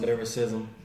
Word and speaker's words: Lilrickcism: Well, it's spelled Lilrickcism, pronounced Lilrickcism.